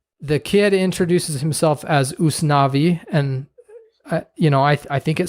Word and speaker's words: Usnavi: And if you're a Spanish speaker, you would pronounce that Us Navi.